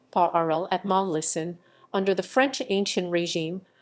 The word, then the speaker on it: parlement: A parliament, French pronunciation, paʁləmɑ, under the French Ancien Régime, was a provincial appellate court of the Kingdom of France.